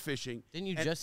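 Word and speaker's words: phishing: h i n g and it is it's pronounced fishing didn't you just say you just learned this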